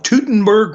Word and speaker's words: Teutoburg: But anyway, in 9 AD, the Battle of Teutoburg Forest. Some people pronounce it differently.